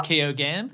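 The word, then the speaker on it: Keoghan: via uh barry uh keogan and i looked at how to pronounce that and it's keogan yeah sorry he's he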